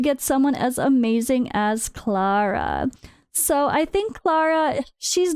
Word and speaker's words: Clara: have to say Clara I want to say Clara because of how it's spelled but the way they pronounce it is Clara Clara all right when you